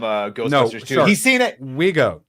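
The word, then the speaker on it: Vigo: Ghostbusters he's seen it Wego you got to say it as Wego or else get mad he's seen it he's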